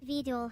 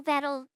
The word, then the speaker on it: Vedal: Veedle, Veddle, Veedle, Ved, apparemment Veedle Johnson. Est-ce qu'ils l'appellent parfois Veddle ? C'est toujours Veedle, VEEDAL, ou VEEDUL, Veedle.